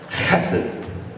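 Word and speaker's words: חסד: It's the word hesed. It's actually pronounced like you're hacking something up, right? Hesed.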